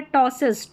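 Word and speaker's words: ptosis: पीटी में यहां पर है टॉसिस टॉसिस पी साइलेंट है।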